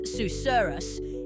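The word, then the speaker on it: susurrus: Pronounced as susurus, it's a word that elicits smiles and a light-hearted giggle.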